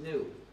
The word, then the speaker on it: GNU: lots of jokes because according to the dictionary the g is silent and the word is pronounced new so every time you